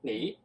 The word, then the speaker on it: 你: 你, okay. 你. Yeah. 你. Is the pronunciation correct?